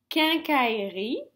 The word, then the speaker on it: quincaillerie: They are the words, and this is the way you pronounce them. Grenouille, grenouille. Quincaillerie, quincaillerie.